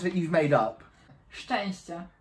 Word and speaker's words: Szczęście: Szczęście. Szczęście. Which means luck. You'd be lucky if I can pronounce it.